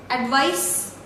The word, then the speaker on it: advice: This is S, advice, alright, and this is Z, that is Z.